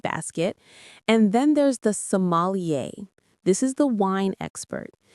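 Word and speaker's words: sommelier: Let's get that pronunciation right as it's another French one. Somalier. The stress is on the end. Somalier.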